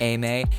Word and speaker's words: Emei: It's spelled E M, sorry, E M E I, but it is pronounced Ame.